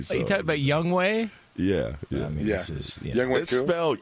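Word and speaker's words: Younghoe: for more on that young hoe Jonas wa wait young ho what are you talking about that ain't how you pronounce it but that's how it's spelled you know what I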